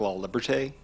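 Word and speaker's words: Laliberté: My name is La Liberté. You can think of it like the Statue of Liberty and put a law in front of it.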